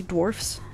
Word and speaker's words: dwarfs: dwarves DW R VES and the plural of people with dwarfism is actually Dwarfs with an s d w r FS fun little English factoid